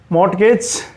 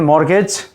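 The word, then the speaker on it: mortgage: मॉर्गेज, इसका T silent कर दें, मॉर्गेज।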